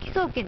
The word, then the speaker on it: 輝壮健: 何でしょうこれえ木草権って読むんですねこれでねはい